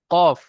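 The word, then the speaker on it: ق: দুটো নুক্তা থাকলে কফ, আর একটা নুক্তা থাকলে ফা। আর এই অক্ষরটি উচ্চারণ করার সময় ঠোঁট দুটো গোল হবে অর্থাৎ পুর হবে, এবং 3 আলিফ পরিমাণ টান হবে। কফ।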